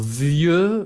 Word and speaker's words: vieux: Alors, vieux, viejo, vieille, vieja, ¿ok? Prononciación masculino, vieux, vieux, como yeux, vieux, yeux, vieux, parecido.